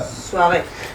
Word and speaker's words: soirée: La E se pronuncia porque lleva tilde, ¿vale? Vas-y, on y va. Soirée.